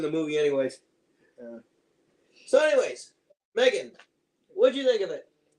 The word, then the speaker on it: M3GAN: As you can see in the title, we are going to review the movie Megan. Now, of course, it's spelled M3GAN because apparently it's the Mark III model or something like that.